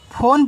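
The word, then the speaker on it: phone: पी एच ओ यानी बताओ इसको क्या पढ़ेंगे, फ़ोन पढ़ेंगे सर, अभी आपने बताया था, तो पी एच से आपका फ़ा, ओ से ओ की मात्रा, एन से ना, ए आपका फ़ोन हुआ, इसका उच्चारण होता नहीं है।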